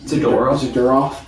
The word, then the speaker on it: Zadorov: Zadorov. Zadorov Has 5 minutes of penalty time every single game of his entire career with us.